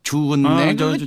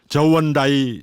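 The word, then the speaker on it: 저우언라이: 아니 그런데 일본이 이 중공하고 국교 정상화를 추진하던 도중에 그 중공에서 그 뭐이냐 주은내 주은내 사원칙. 예. 한자 발음으로 주을레라고 했지만 국제 공통 공식어는 저원다이 중국 수상이었다. 그러니 저원다이 사원칙이라고 해야 할 것이다.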